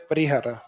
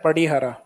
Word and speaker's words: पड़ीहारा: सही शब्द तो वैसे है पड़ीहारा, लेकिन जो इंग्लिश वाला शब्द है परिहारा, ये ड को आर से प्रोनाउंसिएशन किया गया इंग्लिश में, तो हिंदी में करते हैं तो फिर कई बार परिहारा आ जाता है जबकि पड़ीहारा।